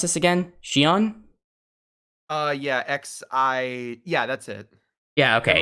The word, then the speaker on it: Xi'an: How do I pronounce this again? Xi'an? Yeah, that's it. Yeah, okay, Xi'an.